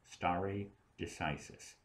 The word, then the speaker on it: stare decisis: That doctrine of precedent is called stare decisis. That's how it's mispronounced in English.